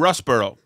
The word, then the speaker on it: Russborough: heist um okay first of all did i pronounce doug dale correctly anthony you did it was perfect and russ burrow perfect i never know it could be worcestershire